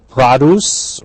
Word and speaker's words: produce: Produce, notice this pronunciation, not produce is the verb, but the noun produce, referring to fruits and vegetables at the grocery.